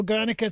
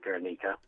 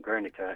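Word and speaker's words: Gernika: And, of course, your pronunciation first was correct. It is Guernica, and the pronunciation Guernica is a Spanishization of it.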